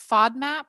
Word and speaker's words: FODMAP: The low FODMAP, is that how you say it? Yeah.